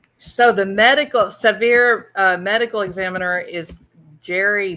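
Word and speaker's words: Sevier: would have been a severe County Medical Examiner um it would what county sever County s v i e r yeah okay I did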